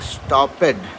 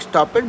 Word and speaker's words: stopped: when you were saying stopped, that has to be pronounced differently. Stopped. ED को बहुत जल्दी में बोलना है, मतलब आधा खा जाना है, right? So you'll not say stopped. It looks like stopped, but we'll always pronounce that as stopped.